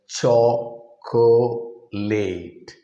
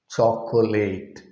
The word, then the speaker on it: chocolate: as if it is cho co late chocolate but it is not like that o in the middle is dropped it's a unit of